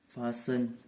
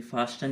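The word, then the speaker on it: fasten: और फासन, ये फास्टन नहीं होता, फासन होता है हमारा, इसमें भी टी का कोई साउंड नहीं आता है।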